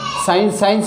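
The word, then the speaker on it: science: ऐसे ही साइंस में देखो एस के बाद में सी है तो ये साइलेंट रहेगा, ऐसे सीन, इसमें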